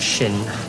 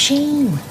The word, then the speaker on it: Shin: What, Shin? It's pronounced Sheen. God, how many times?